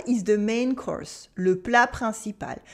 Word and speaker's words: le plat principal: Le plat principal is the main course. Le plat principal. We have a silent T in plat, a nasal sound in principal, remember, le plat principal.